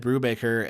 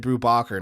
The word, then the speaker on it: Brubaker: I was like, I really love the works of Ed Brubaker and Sean Phillips, and this particular creator is on the stream with me, and we're duking it out.